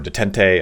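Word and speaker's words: détente: And you can say, hey, I want things just to kind of have a status quo or detente. I think someone told me that's actually pronounced detent.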